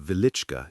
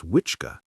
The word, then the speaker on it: Wieliczka: Hidden beneath the quiet town of Wieliczka in southern Poland lies one of the most extraordinary underground worlds ever created by human hands. Often misspelled or mispronounced as Wiczka, the Wieliczka salt mine